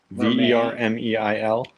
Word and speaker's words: vermeil: you learn it and it's not even spelled like how you think it's spelled it's called it's spelled like Vermeil Vermeil did I spell it wrong v-e-r-m-e-i-l yeah French how do you say Vermeil is not that's how you say it in French I know but it doesn't look like it when you write it out you're like what's the